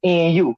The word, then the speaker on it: Nu: Like for instance, like my name Nu, N-U. We just say Nu. But suppose that the Egyptians pronounced the letter N, then my name would be N-U and not just Nu.